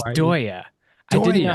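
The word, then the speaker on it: Deye: It's Dya. I didn't know how to pronounce it properly until somebody at Solark corrected me. It's Doya.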